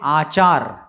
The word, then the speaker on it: आचार: ठीक है, ये है आचार और वो है अचार। ठीक है, फर्क समझे, शब्दों में उच्चारण में फर्क समझे। जो नींबू का होता है, कैरी का होता है, उसको अचार कहते हैं, अचार। ठीक है, और जो आचरण है उसको कहते हैं आचार।